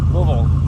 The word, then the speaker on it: Louisville: off to L Louisville Lille one you have to say it I've been told as one syllable Kentucky all right let's